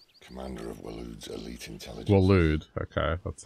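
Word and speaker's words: Waloed: Walud, okay, that's how they pronounce it.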